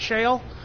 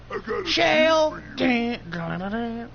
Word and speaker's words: Shale: Am I pronouncing that right, Shale? Like the stone?